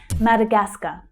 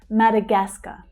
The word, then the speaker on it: Madagascar: Madagascar. Madagascar. So we have a couple of stressed syllables here, but the third one is the strongest. Madagascar. The first syllable is also quite strong. Madagascar.